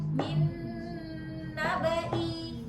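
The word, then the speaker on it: مِن نَّبَإِ: Itu sering terkecoh jadi panjang padahal dia pendek ya. Jadi min naba.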